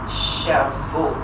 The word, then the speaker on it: Shavout: I thought I got the pronunciation right, you know, but I'm still learning. It is Shavuot.